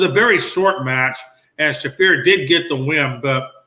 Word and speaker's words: Shafir: it was was it is it shafir how do you say your name marina shafir shafir thank you it was shafir versus